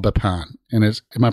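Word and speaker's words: Bama: So the town we're talking about is called Bapan. And am I pronouncing that right? Because I'm sure it's Chinese. That's very good. Okay. Yeah, Bapan.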